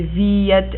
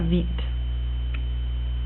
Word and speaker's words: Viet: They have the little umlaut on the top here, so that you say Viet and not Vite. You have to pronounce both vowels.